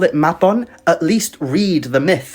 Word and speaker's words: Mabon: autumn equinox and that his name is pronounced Mabon, not Mabon, but that's really not my fault.